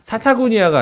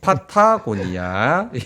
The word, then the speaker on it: 파타고니아: 자, 사타구니아가 아니고요. 파타고니아입니다. 예, 사타구니아 아닙니다. 네. 파타고니아.